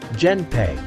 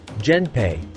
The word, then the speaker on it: Genpei: The name, Genpei, sometimes romanized as Genpei, comes from alternate readings of the kanji, Minamoto, Gen, and Taira, Hei, pronounced as the second element in some compounds as Pei.